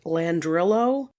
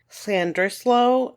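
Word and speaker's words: Llandrillo: looks like it's pronounced land drillo and Lander fell just so you know but apparently double L's in Welsh have almost an S sound to them so hopefully I'm doing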